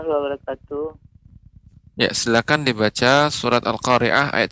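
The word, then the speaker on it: القارعة: Walaupun tadi untuk Al-Qari'ah haknya lebih ditampakkan sedikit lagi, lebih Ya, ditambahkan aliran udaranya. Ya, alhamdulillah Ya. secara umum bagus ya. Al-Qari'ah. Karena sifat adalah hams, yaitu mengeluarkan aliran udara.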